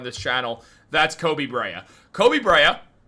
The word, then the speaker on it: Koby Brea: Koby Brea, pronouncing his name correctly now, he has absolutely all the tools of a player the Knicks need.